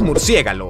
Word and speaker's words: murciégalo: más de 20 kilos si pronuncias murciégalo en lugar de murciélago no estás del todo mal de hecho ambas palabras están en el diccionario de la real academia de la lengua española y son dos formas